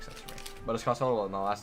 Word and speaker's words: Costello: I am Italian because I am adopted, but the Costello is an Irish last name. A lot of people like try to overpronounce it, called like Castillo. It's not Castillo.